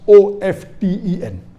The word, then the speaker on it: often: new people are saying of 10 is correct t is not silent it should be pronounced some say t sign